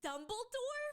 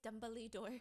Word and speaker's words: Dumbledore: my sister goes what the she goes Dumbly door and we said Dumbledore from Harry Potter and she's like no it's Dumblyore and she's like look at the spelling Dumbor even in English it's pronounced Dumblyore and I'm like this is